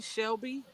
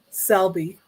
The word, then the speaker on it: Selby: or Vase by uh Betty Shelby I think that's how you say it this is G be huh what is it spel Selby Selby okay Betty Selby this is going to